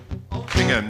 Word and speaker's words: Altrincham: Altrincham, no. Only rhymes with cum and bum and mum.